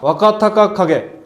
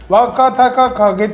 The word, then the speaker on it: Wakatakakage: Alors, à propos de Wakatakakage — Si tu le dis lentement, c’est facile à prononcer, mais vite, c’est galère. J’ai analysé pourquoi. Toutes les voyelles sauf la dernière sont “a”. “Wa”, “ka”, “ta”, “ka”, “ka”, et puis “ge”. Toutes les voyelles sont pareilles !